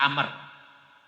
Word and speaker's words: Amr: Kalau habis ro ada wau bacanya bukan Umar Amr. Nah, itu nanti dalam jurmiah itu dalam kitab-kitab nahwu ya. Kadang-kadang kalau yang enggak ini di sama aja batinya Umar semua ya. Padahal wau di situ untuk menunjukkan bahwa itu batinnya bukan Umar tapi Amr.